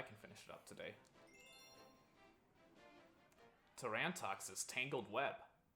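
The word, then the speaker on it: Tarantox: toran toxis tangled web as a kid i pronounced us terran talks cuz i didn't know it was supposed to be a pun on tarantula so or a play on the word tarantula and as you may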